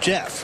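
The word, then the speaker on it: Jaff: That's J-A-F-F, yeah. Pronounced Jeff, huh?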